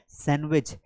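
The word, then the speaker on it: sandwich: कौन से normal words हैं जिन्हें हम गलत प्रोनाउंस करते हैं। यहां पर देखिए, इसे पढ़ा जाता है सैंडविच लेकिन लिखा हुआ है सैंडविच।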